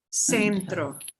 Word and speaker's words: centro: You have to say the E at the end. Centro. Centro. Centro.